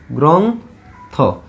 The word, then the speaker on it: গ্রন্থ: তাহলে উচ্চারণে আমাদের অক্ষর পাইছি কয়টা? 2টা। গ্রন্থ 2 ভাগে উচ্চারণ করতে হয়েছে, 2 নিঃশ্বাসে উচ্চারণ করতে হয়েছে।